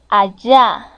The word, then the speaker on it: allá: O podemos decir allá, con doble L y acento en la segunda A.